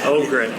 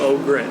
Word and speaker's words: Ogren: How do you pronounce it? Ogren. You're supposed to do this before you start recording. But I've got Jordan Ogren with me. Ogren, excuse me. Ogren, yep.